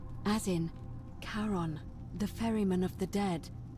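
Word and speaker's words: Charon: it's just as you described it only your pronunciation is a little off the name you heard wasn't Karen it was c h a r n as in Caron the ferryman of the Dead foreign I checked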